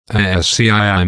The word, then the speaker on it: ASCII: called the ASCII code AS CII means the American Standard Code for information interchange the pronunciation of a s CI is ASCII asked he is a table that